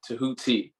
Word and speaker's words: Tehuti: want to say it the way that you pronounce it uh you know to honor your name oh yeah yeah tahuti are you go ahead tara oh i was